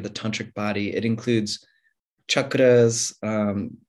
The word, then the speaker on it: chakra: It includes chakras, different chakra systems, or chakras, as it's sometimes pronounced.